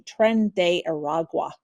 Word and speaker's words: Tren de Aragua: weekend, and we were talking beforehand how to pronounce this. It's the Venezuelan gang Tren de Aragua.